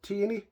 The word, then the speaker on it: Tierney: been announced that Tierney I think it's pronounced teeny from Arsenal wants to